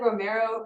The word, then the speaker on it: Romero: So for example, for me, it was I would walk up there and say, hi, this is Representative Romero, rhymes with Camaro, speaking for whatever.